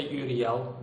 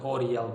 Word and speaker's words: Uriel: of his skillset Oriel has more again you pronounce his name audio you can also say UDL that's the way it's literally written down it's felt you are ie l but I simply pronounce it ODL because that's the way I'm used to pronouncing